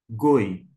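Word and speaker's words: גּוֹי: a leitura comigo ó ó g com o go com y no final goi goi é nação pode se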